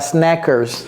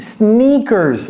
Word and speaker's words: sneakers: Snackers. Non, non, non. Ici c'est s i sneakers.